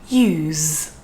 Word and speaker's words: use: um be thinking that the z sound in the verb use is not very strong and you are completely correct if we compare it to the z at the beginning of the word zoo the z zoo is much stronger than the z at the end of the word use and that's just because